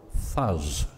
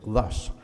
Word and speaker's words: thus: a fool of myself saying dumb things like fuzz instead of thus so or things for